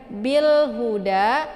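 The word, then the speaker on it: بالهدى: Bil huda, hu ini bukan hau ya, tapi ha besar, hu ya.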